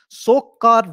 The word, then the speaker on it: Tsokar: Don't worry, the 42nd wetland site, that is called Tsokar. T is silent. Tsokar Wetland Complex, very, very important.